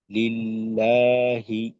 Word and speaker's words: لله: তো এখানে যেহেতু আল্লাহ শব্দের তাসদিদের ডানে জের আসছে, আল্লাহ শব্দের লাম পাতলা হবে। লিল, লাম খারা জবর, মাদ্দে তবে এক আলিফ। লা, হাজের হি, লিল্লাহি, আলহামদুলিল্লাহি।